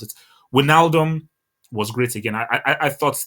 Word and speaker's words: Wijnaldum: My Dutch amigo told me how to pronounce it. Wijnaldum was great again.